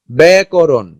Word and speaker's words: ব্যাকরণ: শব্দের গোড়ায় আকার যুক্ত জ ফলার উচ্চারণ এ হয়, যেমন খেত, খেত, খেত, এটা যেটা আছে আ, আ, এই যে জ ফলার পরে কি আ আছে, এটা কি এ উচ্চারণ করে। ব্যাকরণ, ব্যাকরণ, বেধি, বেধি, ন্যায়, ন্যায়, অজফলা আকার।